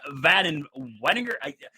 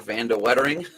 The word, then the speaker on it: Van de Wettering: Mark Van Weninger. Do you know how to pronounce his name like spot on? Not spot on necessarily. I think Mark Van de Wettering. There we go. That's what it is.